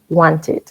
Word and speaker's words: wanted: Agrego la ed, pero nunca pronunciamos ed. It. No decimos ed, decimos eat, wanted. ¿Ok? Podemos decir wanted or wanted. American wanted, British wanted. Se pronuncia la T.